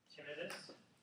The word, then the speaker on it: tinnitus: Tinnitus or tinnitus, you can pronounce it either way. They are both considered correct. The self-help organization, the American T Association, they pronounce it tinnitus, but most professionals will call it tinnitus. So, but either one is okay.